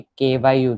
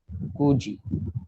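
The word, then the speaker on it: 九時: वैसे ही 9 को क्यू नहीं है। ओके, KYU नहीं, KU है, कू, कू जी।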